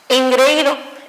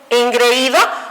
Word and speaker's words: engreído: Bien, la que sigue es engreído. Engreído automáticamente, ¿sí?, se separaría como engreído. Tengo, ¿sí?, vocales que pudieran estar unidas, pero suena fuerte en la I, ¿ok?